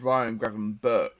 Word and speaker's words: Gravenberch: It's Ryan Gravenberch. It's pronounced.